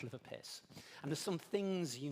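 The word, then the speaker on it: LIVRPS: Now, the good news for you is this is pronounced liver piss.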